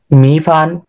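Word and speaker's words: 米饭: আচ্ছা, এই সময় ওর মতো উচ্চারণ করে ফিঙ্গো। ওকে, তারপর হচ্ছে বলেন রাইস। রাইস। মি ফান কোন কোন টোনে আছে রাইসটা?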